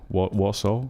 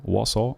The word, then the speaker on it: Warsaw: driving to wash washout warso warsaw i'm not sure how to pronounce vasho in english i think it's warsaw uh hot but ac